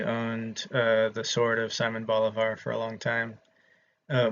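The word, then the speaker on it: Simón Bolívar: south like I did, you'll pronounce his name Simon Bolivar. uh my roommate whose parents were from South America um was my roommate 10 years ago uh would pronounce it the correct way uh Simon Boliv.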